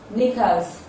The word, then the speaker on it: knickers: The sound K is silent in the following words. Words like night, spelled as KNIGHT. It is silent in knife, spelled as KNIFE. Knickers, spelled as KNICKERS.